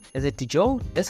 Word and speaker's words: Diageo: Let me just say, is it Diageo? That's how you pronounce it?